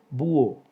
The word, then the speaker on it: búho: Búho, 2 sílabas. Hay un hiato entre la vocal cerrada tónica U y la vocal abierta O.